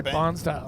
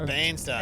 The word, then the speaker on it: Bairnsdale: So, I love the way you can't say Bansdale. Bansdale. What do I say? Bansale. You say Barnesdale. Oh, Barnesdale. It's Bansdale.